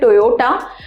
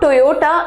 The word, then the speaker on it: Toyota: to turn coach a Toyota but it's not Toyota its Toyota it's tough yo top